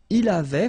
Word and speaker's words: avait: Il avait, final T not pronounced.